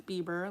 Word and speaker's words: Bieber: Like, they were pronouncing it like that, and I would be like correcting them, like, no, his last name is Bieber.